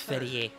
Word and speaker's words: Ferrier: You mean Ferrier? Oh, it's pronounced yes, Ferrier.